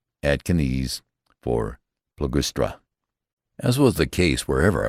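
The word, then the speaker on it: Ploegsteert: Emitters is called Armatiers, Balliol, Balliol, Hazebrook, Hazybrook, and what more natural than Plug Street, Atkins for Plugustra.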